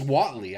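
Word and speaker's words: złoty: oh so they pay it's pronounced oh it's pronounced Watley I got it right they pay once they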